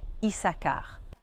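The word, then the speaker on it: Issachar: Mais en hébreu biblique, la prononciation correcte est Isakar.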